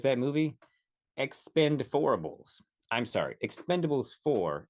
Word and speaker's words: Expend4bles: movie Expendables I'm sorry Expendables for is how it claims that it is pronounced but I will call